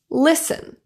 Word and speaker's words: listen: There are silent T words that end with STEN. Words like christen, glisten, listen, chasten, fasten, hasten, and moisten.